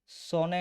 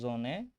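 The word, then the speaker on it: Sonne: তারপরে এস, এস দিয়ে সনে হওয়ার কথা এটা, কিন্তু এটা হবে জোনে। এটার কারণ হচ্ছে এস এর পরে ভাওয়েল হলে উচ্চারণ জে এর মতো হবে। মানে এস এর পরে যদি এ, ই, আই, ও, ইউ এগুলা থাকে, তাহলে উচ্চারণ জে এর মতো হবে। মানে সেজন্য সোনের জায়গায় হয়েছে কি জোনে।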